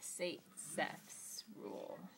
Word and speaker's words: Zaitsev: the e1 reaction mechanism and that again is pronounced say sex so this is a reaction mechanism and the